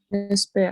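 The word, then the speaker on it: מזבח: Mizbeach. Mizbeach. That A sound you have to pronounce first.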